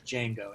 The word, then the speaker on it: Django: what's your names is Django he's going to smell it DJ in G today NGO and then the D is silent and he looks over